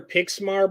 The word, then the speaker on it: Pixma: like a cannon uh and go with their pixmar brand or pixi p i x m a